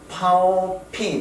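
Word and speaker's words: 寶瓶: 병은 무슨 뜻인가 하면 보라는 것은 중국 발음으로 파오라고 그래요. 파오. 보배보자를 파오라고 그러는데 이 보전한다는 보자 있죠. 이 보자도 발음이 파오예요. 그러면 보병이라고 하면 핑은 여 나왔으니까 보병이라는 그 발음하면 뭡니까? 파오핑이 되죠. 파오핑.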